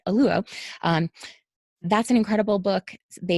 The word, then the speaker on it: Oluo: I always say her name wrong. It is tough for my mouth, but Oluo.